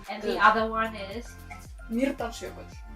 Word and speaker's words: Mýrdalsjökull: refuge qui nous apprend les rudiments de la prononciation de l'islandais. Pas facile. OK. And the other one is Mýrdalsjökull. Mýrdalsjökull.